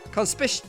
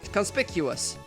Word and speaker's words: conspicuous: know conspicious conspicuous that's how you pronounce it just remembered in my